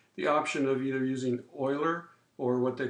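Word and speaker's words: Euler: calculus the other thing is the integration type Oiler it's pronounced like an starts with an O is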